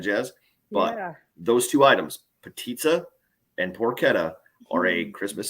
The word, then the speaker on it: potica: from northern Minnesota we have this thing called petitsa if you need to spell it it's potica p-o-t-i-c-a it is a rolled